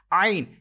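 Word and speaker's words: ع: You have to stretch equal to 3 seconds, and you can't make echo end of this letter, as well as this letter will be pronounced from middle part of your thought, like ain. If you read it ain, if you make echo end of this letter, then it will be wrong. You will have to pronounce it ain, Understood?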